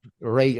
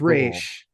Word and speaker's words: Ra's: I mean, they, when Ra's al Ghul comes, Ray. I mean, how to say the right? In here, it's Raish. Yeah. In this movie, they say Raish.